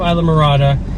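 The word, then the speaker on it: Islamorada: of Isam marada I finally learned how to pronounce it Robbie's of Isa marada it's a Marina and they also do boat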